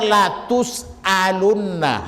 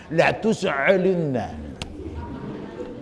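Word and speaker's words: لَتُسْأَلُنَّ: Ustaz dengar wong imam di Palembang harusnya dibaca la tusalunna Hamzah. Tapi dibacanya makai cak cak khusyuk itu nak cak fasih lausunna.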